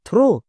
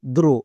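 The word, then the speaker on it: throw: রকম ভাবে আরেকটি ওয়ার্ড দেখো যেমন এই ওয়ার্ডটির উচ্চারণ কি হবে থ্রো নাকি দ্রো কোনটা টি এইচ এর পরের লেটার আর আছে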